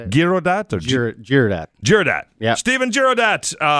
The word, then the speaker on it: Girodat: And his name is Stephen Girodat. How's it going, Mike? Is that how you say that? That's how you say it. Girodat?